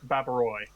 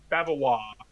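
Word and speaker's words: Bavarois: charlotte siblings uh charlotte babiroy that's beverly isn't ois pronounced wah babawa yes i don't know all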